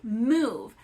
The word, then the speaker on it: move: Move. Ooh. Why does the O say ooh?